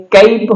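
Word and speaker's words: cap: जैसे पहला जो वर्ड अपने पास में है सी ए पी, फोनेटिक ट्रांसक्रिप्शन आप यहां पे देख सकते हैं, कैप होता है इसका, तो और इसको हम बोलेंगे क्या?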